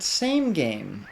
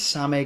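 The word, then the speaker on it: SameGame: how you pronounce it it is not same game i thought it was same game for years until i saw it written out in hiragana the main japanese alphabet and it's same game which makes sense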